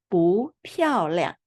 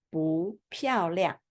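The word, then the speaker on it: 不漂亮: Because 漂 is fourth tone, so we pronounce this 不 second tone. So we pronounce 不漂亮. 不漂亮.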